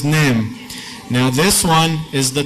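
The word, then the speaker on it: ⲛⲉⲙ: What letter does this look like in English? Looks like an N, pronounced like an N. This one, E, looks and pronounced like an E. And this one, this is an M, so this is Nem.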